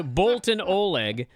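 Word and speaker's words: Boltin Oleg: know the answer is Bolton Oleg both both that's how you say his name and also that is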